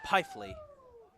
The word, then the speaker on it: Peifley: We have a pitching Tommy change Peefley. for Essex, now doing the pitching, number 16, Tommy Peifley. Excuse me, Peifley.